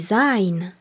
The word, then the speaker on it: sein: Être se dit sein, S-E-I-N. Et on rappelle que le S en début de mot suivi d'une voyelle se prononce Z.